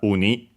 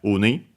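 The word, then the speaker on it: ウニ: which is enemy is clearly uh uni accent on the first syllable. So yeah, uni.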